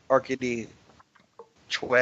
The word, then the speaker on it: Arkady Choi: So hold on, it's pronounced Arkady Choi or Arkady? Arca- Arkady Choi, actually, but I Arkady Choi?